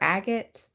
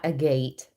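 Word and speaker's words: agate: Is that how you pronounce that? Crystal fire agot. Not a gate.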